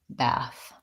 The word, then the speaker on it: bath: So I pronounce both of those with the a, black cat vowel. So glad and bath.